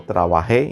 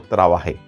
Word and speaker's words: trabajé: Por ejemplo, yo trabajé, importante aquí, la E con un acento, muy importante, yo trabajé, incluso la pronunciación es, por supuesto, necesaria. En este caso, decir yo trabajé.